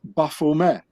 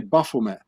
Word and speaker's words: Baphomet: has to be pronounced buffume because the knights templars they spoke french and not english so the t at the end of baphomet it's not being pronounced in french so you say buffume and ba in the